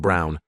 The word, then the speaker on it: Braun: She said why not, and I reminded her of the historical figure, Eva Braun, pronounced Brown, wife of probably one